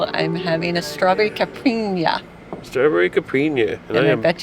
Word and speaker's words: caipirinha: I always say it by the wrong name. Caipirinha, is that right? Caipirinha, yes, caipirinha. Caipirinha.